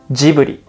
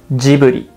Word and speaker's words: Ghibli: So let's pronounce it together as Japanese as possible. Ghibli. Ghibli.